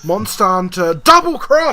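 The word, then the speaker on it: Monster Hunter XX: It's actually pronounced, I'll have you know, Monster Hunter Double Cross!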